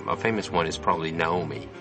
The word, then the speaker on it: Naomi: okay so Naomi and Naomi Most Japanese or um people in kajima Productions probably just pronounce it Naomi mhm um which is a very Japanese way of saying other is like uh